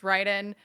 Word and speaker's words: Raiden: like, infected my brain, so sometimes I say Raiden accidentally, but it's pronounced Raiden, because of he's, like, half, from one country and half from another, and, his mother named